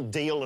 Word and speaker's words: Dalziel: Yeah, Deal and Pascoe. Isn't it Dalziel and... No, that's it's a Scottish thing. It's spelt Dalziel but pronounced Deal.